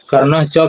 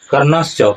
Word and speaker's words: कर्णश्च: देखिए कैसे बताते हैं, कहते हैं कि भवान भीष्म च कर्ण च कृपा च स्मृतिंजय अश्वत्थामा विकर्ण च सोमदत्ति तथा एव च।